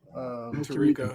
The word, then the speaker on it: Tirico: Tirico, yeah.